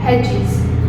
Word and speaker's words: hedges: Over here, D is silent. So we are speaking as hedges.